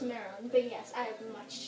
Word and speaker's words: Marron: Marron, is it? We were very interested in seeing what the Nicaraguan life is all about. Actually, it's pronounced Marron, but yes, I have much to tell.